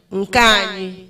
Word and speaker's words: Nkanyi: But when you want to pronounce it, just Nkanyi.